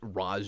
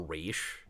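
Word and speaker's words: Ra's al Ghul: Tas or begins I I've always preferred Raj over race personally especially since begins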